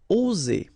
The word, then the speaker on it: oser: Okay, it's interesting here because you've got only one S between two vowels, and normally the pronunciation you will get when you get only one S, it's Z, okay? Oser, all right? If you would have deux S instead, you will pronounce it oser, okay? But in that case, you've got only one S, and that's the rule. One S between two vowels will produce the sound Z, oser, okay?